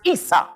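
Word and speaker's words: عيسى: In Arabic, Esau is pronounced Isa.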